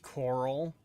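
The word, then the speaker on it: Chorrol: dun silence fool um it's actually pronounced Coral karal it's pronounced chal why the [ __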